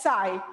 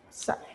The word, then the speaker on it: psi: And this is, it is represented by Greek letter called as psi, P-S-Y. P is silent over here. This is denoted as psi.